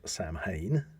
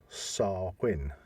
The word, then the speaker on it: Samhain: most people and I have heard people uh pronunciate it as Sam Hayne yeah but it should be SAR Quinn really yeah no that's interesting because obviously we